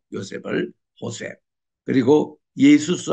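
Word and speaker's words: José: 그래서 요셉 할 때에 우리 영어로서는 조셉이라고 읽지만 레티너 또 이 스페니쉬로 읽을 때는 호세라고 발음을 하죠. 요셉을 호세.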